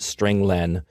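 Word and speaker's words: strlen: appears at line 9 I pronounce it string Len because it means string length it Returns the number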